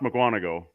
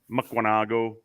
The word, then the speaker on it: Mukwonago: they always tried i always heard it you pronounced mukwonago mackwanago it was wisconsin had what scott it's always